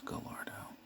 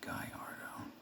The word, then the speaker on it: Gallardo: gallardo and i used to think it was gallardo but it's actually pronouncing guyardo kind the huracan is that a hurricane it's